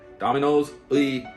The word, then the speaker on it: Domino's: Domino's. It's not Domino, it's Domino's. The hard O, Domino's 아니에요. Sounds like you're saying D-A, Domino's. 하고 Domino's, because there's an apostrophe S. 그거는 Domino's의 pizza.